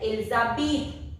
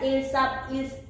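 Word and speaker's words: ils habitent: Then Elizabeth. H-A-B-I-T-E-N-T. That E-N-T won't be pronounced. We'll pronounce it as Elizabeth. Again Elizabeth. S is pronounced because it is followed by H. Silent H.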